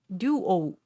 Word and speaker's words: Duo: this this word duo duo Duo is to sell Google sensei okay yes thank you correct do oh ah I didn't know that thank you Duo two syllables each oh no you oh